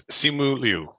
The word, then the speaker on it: Simu Liu: It's Simu Liu. Simu Liu. Don't feel too bad. Don't feel too bad. It's difficult to pronounce Asian names if you're not used to